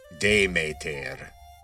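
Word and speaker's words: Demeter: The original pronunciation was something like demater if you're going with the attic pronunciation.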